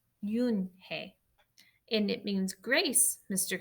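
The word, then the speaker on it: Unhei: "Yes, it's pronounced Yoonhae, and it means grace," Mr. Kim added. "Yoonhae," Joey said slowly, and this time perfectly.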